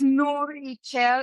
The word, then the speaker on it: Nourixchel: So it's Nourichel. I'm gonna spell it because it's Nourixchel, and you say Nourichel.